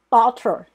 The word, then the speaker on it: daughter: 好，这个 AU 念 O，下巴往下 O。GH 不发音 da，然后这个 TR daughter 女儿。